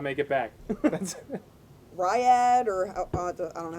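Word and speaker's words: Riyadh: Riyad or I don't know how to pronounce it. Riad.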